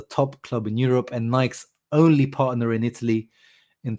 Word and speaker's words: Nike: And then they announced Nike. I always say Nike, but I know the proper way to say is Nike.